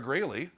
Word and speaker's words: Graley: We are here at the store, and we are joined by the amazingly talented Sarah Graley. Hiya. Did I pronounce that right as Graley, not Growley?